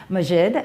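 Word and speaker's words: Maajid: pursued I know what it is it is majid thank you you're a pursuit within your Islamic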